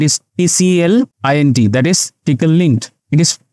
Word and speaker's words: Tclint: the lter that is TCL in that is tickle link it is pronounced as P link we'll also check for